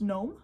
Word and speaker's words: Nome: Methodist Mission School in I believe it's pronounced gnome Alaska n o where she was